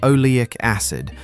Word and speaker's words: oleic acid: A dead ant's body releases a compound called oleic acid, pronounced o-le-ic acid.